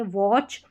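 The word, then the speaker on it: watch: सी एच के combination में यहां पर टी साइलेंट है वॉच सी एच को च पढ़ा गया है मैच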